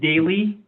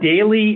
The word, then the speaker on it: Daly: I am here to report on how Marcus Daly and Henry Billard pronounced their names and it is Daly and Villard let the record show.